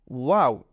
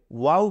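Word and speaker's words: و: গোল হয়ে উঠেছে তো আমরা প্রথমে এটাকে বলবো ওয়াও এটাকে বলবো ওয়াও আমরা কিন্তু অনেক সময় আনন্দে খুশিতে কিংবা কোন একটা আশ্চর্যজনক জিনিস দেখলে ওয়াও বলে ফেলি হুম আমরা মনের অজান্তেই কিন্তু আরবি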